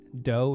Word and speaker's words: Do: me at the chris doe and dough spelled d o it's pronounced or it sounds like cookie dough but it's just about